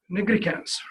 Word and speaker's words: nigricans: Skin continue, you have malar rash, lupus, acanthosis, and they taught me how to say it right, nigricans, right?